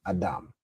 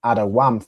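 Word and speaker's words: אדם: But really the root here, the way you'd originally pronounce it is Adam. Okay? I believe previously I had it as awam for red, but I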